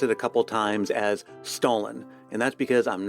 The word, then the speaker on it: Stollen: a couple times as Stollen, and that's because I'm not going to embarrass myself with a failed attempt at affecting a German accent. For an authentic German pronunciation, I'll leave it to Luisa. Stollen, Stollen, Stollen.